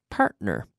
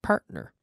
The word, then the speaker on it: partner: otro what Rose Sophia partner partner partner there's a tea there but parked parked we don't normally pronounce that very hard but partner partner partner partner we the tea is quite soft partner verse evident be